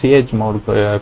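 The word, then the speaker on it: chmod: Then another thing is ch mode. Ch mode, not ch mod.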